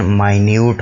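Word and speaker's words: minute: और अमाउंट ज़ाहिर करने के लिए भी इसको बोला जा सकता है, जिसमें कि इसकी प्रोनाउंसिएशन माइन्यूट होगी।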